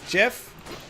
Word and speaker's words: GIF: You know why it's GIF? Because the creator says GIF.